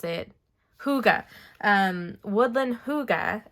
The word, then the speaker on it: Hygge: I've got to remember how to pronounce it. Hygge.